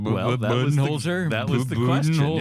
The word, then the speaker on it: Budenholzer: That was the question going in, because everyone's always said Budenholzer, and I guess we talked to some people up in Holbrook, where he's from, and they all said, "You're all saying it wrong. It's Budenholzer."